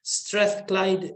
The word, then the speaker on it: Strathclyde: With a PhD in architecture from, I'm trying to pronounce the name of this university, Strathclyde University.